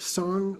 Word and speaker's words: sang: So this is the brief song offering. It's spelled S-A-N-G, but it's not sang, it's song in Tibetan pronunciation.